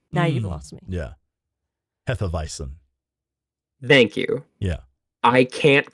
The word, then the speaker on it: Hefeweizen: of beer that Americans will call it a Hefeweiss beer. Now you've lost me. Yeah. Hefeweizen.